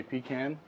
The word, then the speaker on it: pecan: Well, we're going to be cooking up some pecan shrimp. Gotcha. Now, people up here say pecan. I like to say pecan because that's how they say it in the Tomato, tomato.